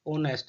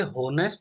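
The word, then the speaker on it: honest: यहाँ पर ये एच साइलेंट है और इसकी आवाज जो आती है वो आती है हमारी ओ की, ओनेस्ट। ये होनेस्ट नहीं है, ये ओनेस्ट है।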